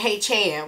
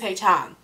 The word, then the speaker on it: Haechan: my support of them, saying Haechan with my old country sound itself. His name is Haechan.